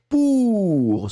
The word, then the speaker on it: pour: C'était pour, celui qui était très, très, très, très rond.